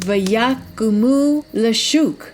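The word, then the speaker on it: ויקמו לצחק: And in the Hebrew, that is pronounced vayakumu lashuk, literally to rise up to play.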